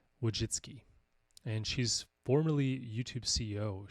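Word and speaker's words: Wojcicki: can't even say it I think it's pronounced Susan wiu jitsy and she's formerly Youtube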